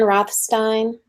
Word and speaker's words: Rothstein: And it's Dan Rothstein and Luz Santana.